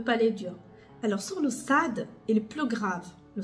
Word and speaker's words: ص: ça ça s'approche à sad en tout cas quand vous prononcez le SAD il est grave le SAD il pas dou alors quand je vais